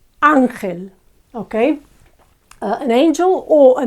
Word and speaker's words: ángel: Again, it ends with a syllable, and we would say, normally, you would expect the Spanish to say ángel, angel, and yet it's ángel, okay?